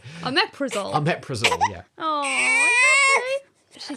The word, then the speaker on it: omeprazole: We call it omnipresol, but that's not how you say it. Omeprazole.